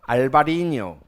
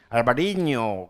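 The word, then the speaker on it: Albariño: 정도는 알아 놔 주세요 알바리 이거 내가 제가 이거 스페인이 스펠링이 없어 가지고 그냥 알파벳으로 쳤는데요 위에는 이거 있죠 왜 물결 어이 이거 이게 있어요 그래서 바리가 아니고 알바리뇨 됩니다이 알바리뇨 지금 전 세계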